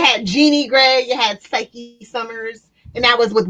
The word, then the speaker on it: Cyke: Oh, like short for Cyclops, Psyche and Jeannie. Well, it's pronounced Psych Summers. Nope, Psyche. No, because it's a silent E, because you're making it a long I sound in the Y.